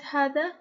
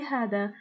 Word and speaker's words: هذا: So when you want to write hada, don't write the alif. But when you want to say hada, you have to pronounce the alif. Now hada is for masculine.